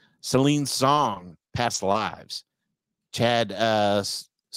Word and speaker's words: Stahelski: The nominees are Takashi Yamazaki, Godzilla -1, Celine Song, Past Lives, Chad Stahelski. Is that how you say it? Or I think Stalski? Stilisky, I think it's Is it pronounced. Stilisky?